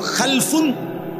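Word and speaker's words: خَلْفٌ: খালফুন আরেকটা হল খালাফুন একই শব্দ শুধু উচ্চারণের মধ্যে একটু ভিন্নতা মাঝখানে একটা লাম আছে এ লামটার মধ্যে যদি সাকিন হয় তাইলে হল খালফুন আর যদি লামের মধ্যে জবর হয় তাহলে হল খালাফুন আরবি শব্দ খালফুন লামের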